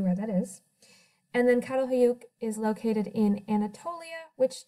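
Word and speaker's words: Çatalhöyük: Aleppo Jericho and this last one here is pronounced catal hoyuk we're going to take a look at each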